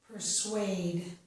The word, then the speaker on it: persuade: The letters S-U here do not make the sh sound. Instead, these two letters make the sounds s and w. This word is persuade.